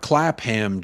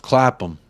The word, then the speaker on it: Clapham: It's not Clapham, Jacob. It's pronounced Clapham.